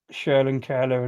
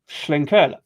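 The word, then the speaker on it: Schlenkerla: I mean, Schlenur is a difficult thing, a difficult word to pronounce and I've seen a variety of things, but it's definitely Schlenura as far as I'm aware.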